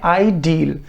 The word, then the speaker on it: ideal: इसको हम थोड़ा लंबा पढ़ते हैं, इसकी प्रोनाउंसिएशन इन दोनों से अलग है। इसको हम पढ़ते हैं आइडियल या आइडियल।